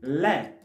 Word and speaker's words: les: Of course, the la, it has S, but we don't pronounce the S. The sound of S comes when it's connected with a vowel.